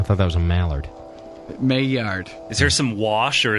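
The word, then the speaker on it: Maillard: could know Peter I know it's really hot mayard mayard you to pronounce it first I got to do the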